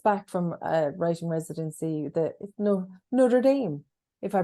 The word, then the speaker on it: Notre Dame: I mean, I'm just back from a writing residency, Notre Dame, if I pronounced that right.